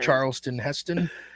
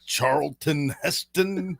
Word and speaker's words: Charlton Heston: Like Charleston Heston. Yes, like thank Wow, you. Like said Charleston. that very weird. Why? Charlton Heston. Isn't that his name? Like, you hit all the T's.